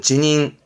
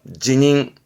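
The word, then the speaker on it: 辞任: 뒷글자가 임자, 말 그대로 사임하는 발음은 지닝, 지닝.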